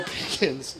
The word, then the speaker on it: Pickens: then it wasn't uh Joe Pickens like chickens not at least they